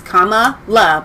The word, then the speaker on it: Kamala: right on this show you heard it once it's comma love but we're just going to say kamala doesn't matter biden mispronounced